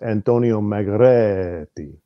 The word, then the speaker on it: Margheriti: First of all, it's Antonio Margheriti. Thank Margheriti.